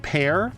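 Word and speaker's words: Peer: His first name is spelled P-E-A... Sorry, P-E-E-R, but it's actually pronounced Pear.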